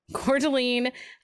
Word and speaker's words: Coeur d'Alene: it i actually googled it and had them pronounce it anyway for you yeah coeur d'alene idaho which i'm not sure i would classify